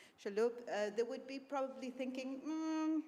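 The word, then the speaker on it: Chalhoub: a company like Shabu Shaloo Shaloo sorry I pronounced it wrong shaloop they would be probably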